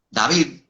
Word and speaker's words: David: Por ejemplo, para yo decir David, David, como se debe pronunciar David, yo debo colocarte de tod la lengua David, debo colocar la lengua en la parte superior de los dientes.